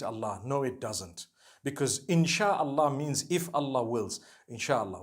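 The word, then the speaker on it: إن شاء الله: Inshi means to create. No one says inshi Allah. They say inshaAllah.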